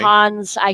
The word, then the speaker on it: Hansi: Hans, I tend to call him Hansi. Rhymes with Fonzie, Okay. as in Fonzarelli.